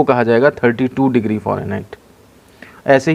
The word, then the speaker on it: Fahrenheit: आपका वह कहलाता है फॉरेनहाइट egg Chaurai nh-80 skill की स्पेलिंग थोड़ा देख ध्यान दीजिएगा बाहर होना चाहिए फारेनहाइट और फारेनहाइट बोला जाता है वैसे इंच जो है वह करने से साइलेंट रहता है इसमें अब देखिए जो